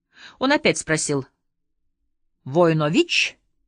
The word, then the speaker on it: Войнович: на меня и спросил с ударением на последнем слоге войнович я удивился что он